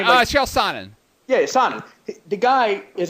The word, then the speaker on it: Chael Sonnen: Is that how you pronounce his name? Yeah, Chael Sonnen.